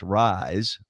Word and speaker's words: RYZE: And it's called RYZE, pronounced Rise, play on words, RYZE.